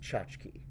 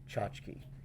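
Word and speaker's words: tchotchke: I'm calling this card out the word is pronounced chachki if you stick with this video for no other reason I am the only person on YouTube pronouncing this word correctly chachki you've heard it before I know you have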